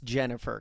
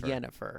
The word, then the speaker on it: Yennefer: Although I turned subtitles on and I learned that it's actually spelled with a Y. I thought they were just saying it wrong. No, so it is It Yennefer. is Yennefer, I guess.